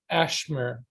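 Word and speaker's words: אשמור: it has okay so the first one is i keep and that's basically pronounced ashmer and and it is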